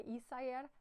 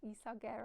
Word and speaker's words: Isager: It's Silk Mohair by Isayer. I recently learned you don't pronounce it Isager or something like that. You say Isayer.